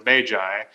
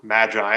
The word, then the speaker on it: Magi: we start off and they're doing a Diagnostics on the Magi or Magi however you want to pronounce it um and the